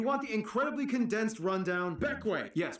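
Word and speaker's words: Bequia: but if you want the incredibly condensed rundown beckway yes pronounced beckway it is the largest and most populated grenadine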